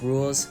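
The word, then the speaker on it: Rouxls: rules is boss battle it's pronounced rules thank you by the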